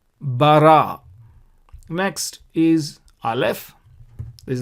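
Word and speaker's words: בָּרָא: So Ba is the sound. And Resh is the next letter, similar to what we have seen here already. Resh is the next letter, and again a Qamats, and so you pronounce Ra. And Aleph has no sound. So therefore the total word, we pronounce it as Bara.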